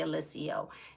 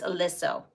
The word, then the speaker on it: Aliso: And they don't like when you say Alicio. It's Aliso.